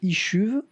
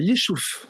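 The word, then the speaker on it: Yishuv: y avait noté, alors je vais très mal le prononcer, Ishuv et Falacha. Le Yishouf.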